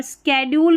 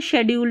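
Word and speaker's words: schedule: और यहाँ पर स्केड्यूल भी पढ़ सकते हैं, शेड्यूल भी पढ़ सकते हैं, दोनों तरीके से प्रोनाउंस कर सकते हैं, कोई इशू नहीं है।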